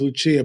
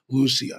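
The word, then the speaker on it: Lúcia: Most people know her as Lucia, but the correct Portuguese pronunciation is Lucia.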